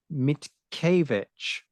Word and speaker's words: Mickiewicz: He's a PhD student at the Department of History at the Adam Mickiewicz. I got advised on that pronunciation before we started.